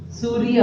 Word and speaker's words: सूर्य: सूर्य। तो देखो मैं इसके अंदर र बोला, सूर्य। ऊपर ये रेफ है तो हमने उसमें र का उच्चारण किया, सूर्य।